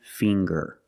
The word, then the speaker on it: finger: ginger very good and finger finger we see the nasal sound plus the hard G the G fing GG finger I have 10